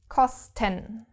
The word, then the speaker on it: kosten: So, kos, first syllable, ten, second syllable.